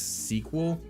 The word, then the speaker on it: SQL: info um you know SQL is pronounced in the cording Community as sequel yeah but the thing